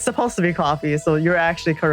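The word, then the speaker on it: Ko-fi: do you pronounce it's actually supposed to be pronounced Ki as in like coffee but everyone hates it so words to saying Kofi yeah it's supposed to be coffee so you're actually correct yep thank you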